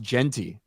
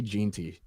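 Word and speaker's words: Jeanty: boy St running back his last name is pronounced Genty I say geny Genty Jey geny um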